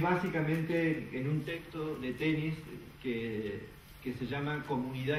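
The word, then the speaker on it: Tönnies: que es un autor que se llama Ferdinand tenis se escribe tonies que es un autor eh que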